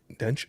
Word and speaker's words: Dench: Judi Dench and Dench, sorry, I said it wrong.